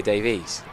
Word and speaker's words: Davies: the case of Alex it's Davis rather bizarrely he has got an e but that's what really whins me up if it's an E I go Davies so technically I've been saying it wrong for the last I checked with Richard Wilford yesterday morning who is next door to us and he is the warshire commentator and he is very clear that it's Davis that